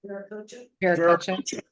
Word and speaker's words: Viracocha: I appreciate also your direct messages that you got from the source, from how did you pronounce Vanath? Viracocha.